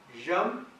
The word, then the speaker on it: yama: is told to follow yam and niyam. I think it's referred here as yama and niyama because that's the way the Americans possibly pronounce it. It's yam, Y-A-M-A, yama, which literally means death or control.